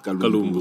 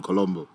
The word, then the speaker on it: Kalumbu: Then I think somebody made a mention that they couldn't pronounce my name properly as Kalumbu, so they went into Colombo.